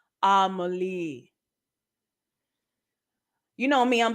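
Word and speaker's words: Amélie: film rom-com heavier on the romantic elements though pronounced amalie you know me i'm like amelia melly a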